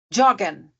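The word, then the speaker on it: joggen: Bal bem pum pum pum ah por exemplo jogan jogan é um verbo j o g g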